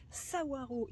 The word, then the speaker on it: Saguaro: le cactus savoir oui ça se prononce sa waro ici en a partout